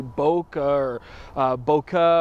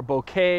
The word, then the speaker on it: bokeh: misconceptions some people say Boca Boca or bouquet or boki I mean all these different cases and the commonly held belief is that it's a Japanese term bouquet to refer to